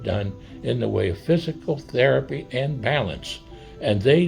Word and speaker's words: FYZICAL: So, it's spelled F Y Z I C A L. F Y Z I C A L spelled different. Spelled different. They are different.